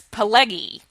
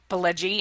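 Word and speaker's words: Pileggi: I mean, when Mitch Mitch Pelgi came out and his name was improperly pronounced as Paleggy and he leaned over to the person who introduced him and said Pelgi and she corrected it.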